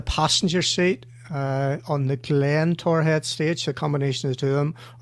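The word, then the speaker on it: Torr Head: Which goes Torhead. Easy, two syllables. Tor and head.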